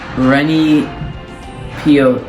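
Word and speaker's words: René Peoc'h: His name was Rennie Pioch. I think that's how you say it. It's Renepeoch.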